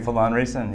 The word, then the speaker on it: Phelan Riessen: Did I pronounce it properly? Phelan Riessen, yes.